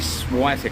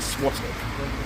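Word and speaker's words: Świątek: It's actually Swiatek or something. Yeah, it's not Swiatek.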